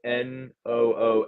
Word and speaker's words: Nunes: so like it's pronounced like NOONCH, NCH, like yeah, Nunes.